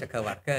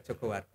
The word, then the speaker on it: Jagawarga: Ini bacanya Jogo apa Jagawarga Pak? Ya, namanya Jagawarga gitu ya. Oh, Jagawarga. Kalau orang Jawa mungkin juga Jogowargo. Jogowargo itu ya.